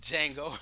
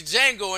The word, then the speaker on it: Django: I've seen the movie Django and I always say the Django and then in my head I hear him saying the D is silent but this is that